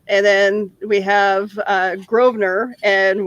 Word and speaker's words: Grosvenor: then we have uh grosvenor and with a with an s in the word but you're not supposed to pronounce the s okay i i think